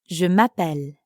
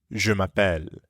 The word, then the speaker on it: Je m'appelle: Je m'appelle. This is how the French say my name is. Notice how it blends together. Je m'appelle. Je m'appelle.